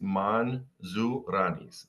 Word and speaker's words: Mantzouranis: time and nonetheless um it's phonetically it's man zanis and uh to roll the r is optional um but anyway Manis